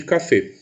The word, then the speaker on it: café: forte mas ainda assim eu vou pronunciar essa palavra com a vogal fechada então café e foi não vou